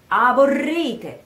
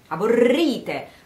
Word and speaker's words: aborrite: You have to go to that I, aborri, aborri, which is an E in Italian, aborrite, aborrite. So the stress is on the E, aborrite, with the double R.